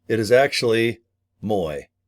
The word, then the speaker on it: Mui: I was saying Mao. It is actually Moy. I need to think of M O Y, not M UI.